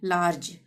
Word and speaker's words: large: ठीक है, तो जी के बाद ई आ रहा है तो लार्ज, यानी कि ज का उच्चारण होगा। लार्ग नहीं पढ़ेंगे, लार्ज।